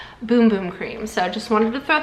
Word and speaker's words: Bum Bum Cream: a little PSA that this is actually pronounced boom boom cream I also originally thought it was bum bum cream but you can see